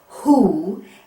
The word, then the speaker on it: who: is a uppercase W now the W usually says W but not in this word in this word it is silent it is a magic